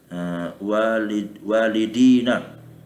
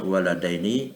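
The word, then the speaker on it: وَلَدَيْنِ: Yang benar itu bacanya waladaini atau rajulaini kitabaini.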